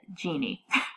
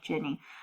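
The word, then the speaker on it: jinni: Jenny or Jin uh we tend to pronounce it Genie but it's actually like Jenny our powerful spirits that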